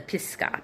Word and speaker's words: Pisgah: Uh below the slopes of the Pisgah, p i s g a h a not g p i s g a h.